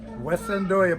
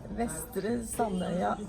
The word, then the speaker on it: Vestre Sandøya: This is the house on West Sandoya, but I didn't pronounce it right. Pronounce it correctly. Vestre Sandøya. Okay, that's how you pronounce it in Norwegian.